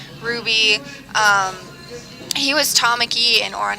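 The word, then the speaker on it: Rowby: And you pronounce it Ruby? Ruby. R-O-W-B-Y? Yep, Ruby.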